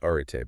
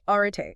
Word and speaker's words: Arete: Pronounced arete, by the way. Right, arete. It's Greek.